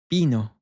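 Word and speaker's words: vino: Bino. I want to draw your attention to this V. As very often, at least in Latin America, you'll hear this take on more of a soft B.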